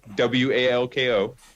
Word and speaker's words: Walko: J Walko WALKO JWOKO. ALKO. ALKO. There we go. Yeah, walk with an O, like walk.